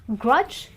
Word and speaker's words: grudge: pronunciations one more time it's pledge Dodge Grudge really really simple and that's the rule of the combination of DG when D is silent well I really hope